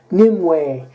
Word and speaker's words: Nimue: s's if you will new way or Nimue ee or however ever you say it but I pronounce it Nimoy anyway this is a